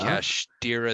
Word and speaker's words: Kashtira: I gotta find out how to pronounce. Speaking of Kashtira Theosis.